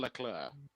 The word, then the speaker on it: Leclerc: And you got Charles Leclerc and George Russell on the podium with him there.